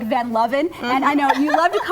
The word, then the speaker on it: Van Luven: That's spelled like Van Luven, and I know you love to call me Van Luven because it's such a cool It does sound cool, name.